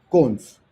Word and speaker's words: cons: se llama dos puntos, que se pronuncia cons.